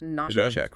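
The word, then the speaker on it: נשק: It is 3 consonants, nun, shin, kof, pronounced Nāshaq.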